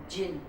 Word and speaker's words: jinn: It is pronounced as jinn.